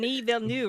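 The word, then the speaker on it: Villeneuve: what I thought but I wasn't 100% Dennis villanu Dennis I think I have actually learned how to say his name Den V new right yeah yeah okay I have finally learned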